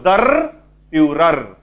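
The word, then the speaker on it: Der Führer: तांको शासक को लीडर को जो नारे डाकंती उच्चारणटा भले सुनिबो दर फ्यूरर ठीक अछि जर्मन भाषा रे कुआ ठीक अछि बुझियला तले दर फ्यूरर काहा को कुआ होची जेतो जर्मन्स माने हिटलर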